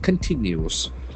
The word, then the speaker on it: continue: Attempt to find out something search continues. c o n t i n u e So this is another beautiful verb, continue. Continue. Continue there are three syllables accent falls on the second syllable.